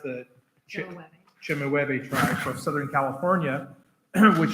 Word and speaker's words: Chemehuevi: It's pronounced the Chemehuevi tribe from Southern California, which she was telling us is near extinct.